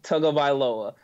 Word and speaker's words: Tagovailoa: I told my partner in crime, Jordan Plain, that my biggest accomplishment in 2018 was learning how to pronounce his name, Tagovailoa.